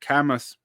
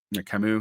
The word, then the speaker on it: Camus: to Andre Bon and Albert cus Camu excuse me not cus I just flash back